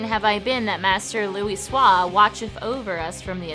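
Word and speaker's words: Louisoix: Never more certain have I been that Master Luis Swahis watcheth over us from the athereal sea. I pronounced his name right because I remember it's pronounced Louis Swah.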